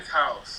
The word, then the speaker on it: Vice Haus: Is it the Vice Haus? Is it Haus? Is that how you say it? Vice House. Vice House. His So house is just spelled the German way.